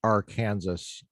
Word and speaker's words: Arkansas: went back home to Arkansas, where I'm from, and wrote my dissertation there for a year. I think it's pronounced Arkansas. Thank you. For the correction.